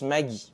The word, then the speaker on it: Maggi: Je prononce Maggie pour parler de cette très grosse bouteille d'exhausteur de goût et de sa marque. C'est la prononciation courante en Alsace et donc c'est celle qui est naturelle pour moi.